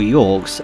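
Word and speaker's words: Gyorg: enemies yet these are gorgs or York's assuming a silent G stopped it's a weird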